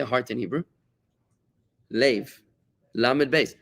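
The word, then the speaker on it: לב: Lev, lamed beis. Lev is a heart.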